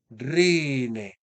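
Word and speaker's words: ῥῖνε: Y como estamos en una penúltima sílaba larga, este entonces será circunflejo porque la última sílaba se considera breve. Rine, dos narices o dos narices.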